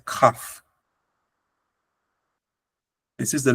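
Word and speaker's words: כ: Everybody in Israel says this is Kaf, but it's not Kaf. It's actually Kaf. So it's important to go back to the biblical pronunciation for reading the Torah.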